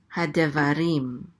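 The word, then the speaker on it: הַדְּבָרִים: So this is rim. Hadevarim.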